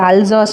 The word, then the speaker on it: Alsace: Sorry, இது வந்துட்டு அல்சாஸ்னு pronounce பண்ணணும், அல்சாஸ்.